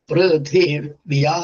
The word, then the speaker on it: പൃഥിവ്യാ: പൃഥിവ്യാ എന്നും സപ്ത എന്നും രണ്ടും അന്തോദാത്തങ്ങളാണ്. അവസാനത്തെ അക്ഷരാണ് ഉദാത്തം. അപ്പൊ അതിന്റെ തൊട്ട് മുമ്പത്തേക്ക് അനുദാത്തം. പൃഥിവ്യാ പൃഥിവ്യാ പൃഥിവ്യാ സപ്ത സപ്ത സപ്ത.